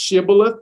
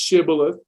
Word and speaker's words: Shibboleth: word in the bible uh it's a it's pronounced shibboleth and i say shebola it's pronounced shibboleth it was a type of password uh gilead